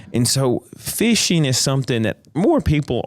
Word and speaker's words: phishing: we're referring to and if you're listening, it is spelled p h i s h i n g. Got you. Phishing. Phishing. The phonetic p h that makes the f sound.